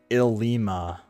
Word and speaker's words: Ilima: Captain Ilma here. Couldn't help but observe your battles. You looked so delightful in battle that I had no choice but to summon you here. Okay. It's pronounced Ilima.